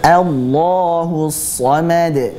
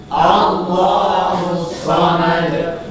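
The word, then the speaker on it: الصمد: qulhuwallahu ahad qulhuwallahu ahad allahusamad allahus Somad allahus Somad allahusad sekali lagi jangan o tapi a allahus somomad allahusad lam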